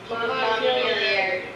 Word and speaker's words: Montpelier: And we had dinner in Montpelier. Do you say it with the ER like the French way or pronounced? Montpelier.